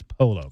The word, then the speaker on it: Polo: It is Polo, correct? Yeah, it's Polo. Okay. I just want to make sure. I know some people get rid of the L's with Y's and all